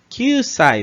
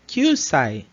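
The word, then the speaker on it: 九歳: 9 歳、 Kyusai. Vejam que ela prolonga bem, né? Esse U aqui final. Então fica Kyusai.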